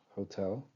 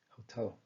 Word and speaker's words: hotel: For instance we have hotel. We have how and tell and we can identify that the stress falls under the second syllable hotel.